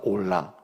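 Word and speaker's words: עולה: 올라.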